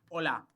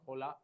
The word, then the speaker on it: hola: So any word starting with H, H will be always silent in Spanish.